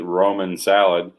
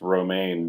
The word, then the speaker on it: romaine: andre likes to eat roman salad he definitely pronounced romaine bromen yes i think you should